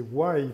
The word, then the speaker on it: Why: Parce qu'on rappelle que le nom de ta structure, c'est Why, puisqu'effectivement, il faut prononcer le Y comme le pourquoi en anglais.